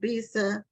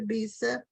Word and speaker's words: Bisa: and I think it's pronounced Bisa, like Lisa, because Yes. it's spelled like Lisa with the B. But if it's not, then we'll find out. But her name is Dr. Bisa Batten Lewis, and she